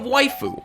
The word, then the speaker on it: YFU: A business venture by the name of Waifu. YFU, pronounced waifu.